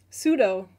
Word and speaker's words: pseudo: Pseudo got me. Oh yeah. The the silent P in in a lot of words.